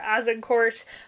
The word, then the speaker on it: Agincourt: The first one I'm going to talk about chronologically is Agincourt by Bernard Cornwell, or Agincourt. Apparently that's the way it's spelled in French and it's in France.